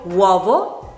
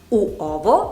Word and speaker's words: uovo: The same happens with other words, for example "uovo" (egg) or "uomo" (man). The vowel «U» is before another vowel and is pronounced with a very fast and very direct sound. Not "u-o-vo", but "uovo". Now let's move on to the consonants.